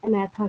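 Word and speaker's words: Agnatha: तो जिसके पास जॉ नहीं होगा, जिसके पास जबड़े नहीं होंगे, ये मतलब नॉट होता है, उनको हम अनैथा कहते हैं, जी साइलेंट होता है।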